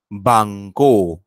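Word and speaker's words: banco: ब म्हणून वाचायचा जसं बांको बांको बांको इथे ज्याचा उच्चार ब करा करायचा आहे तो मी लाल अक्षरात दाखवलेला आहे पहा त्या ब मध्ये पुढचा आ मिसळला आणि त्याचा बा झाला बांको बांको बांको सर हा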